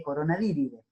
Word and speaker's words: Coronaviridae: Se escribe Coronaviridae, pero se lee Coronaviridae.